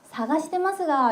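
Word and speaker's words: 探しますが: 여러분 찾고 있습니다만 찾고 있는데요라고 할 때가라고 했는데 일본인들은이를 발음을 안 하고 가시마스가라고 합니다. 자 한번 같이 발음해 볼게요. 자 사가시 이마스가 안다 그랬습니다. 사가시마스가 이렇게 해볼게요.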